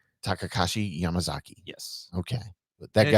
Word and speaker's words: Takashi Yamazaki: It's pronounced Takashi Yamazaki. Takashi Yamazaki.